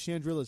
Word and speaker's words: Chandrila: over the planet chandrila she says it weird i'm like it's shandrilla's stupid say it right it's ben solo's home planet you better get it right that's where you're flying